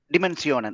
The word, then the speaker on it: Dimensionen: How do you pronounce? Bedeutungens Dimensionen or a dimension? Dimensionen.